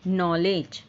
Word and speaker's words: knowledge: है, जैसे student need नॉलेज, student need नॉलेज। तो नॉलेज की अगर स्पेलिंग क्या होती है देखा जाए तो के से स्टार्ट होता है ना, के साइलेंट होता है, KNOWLEDGE, नॉलेज।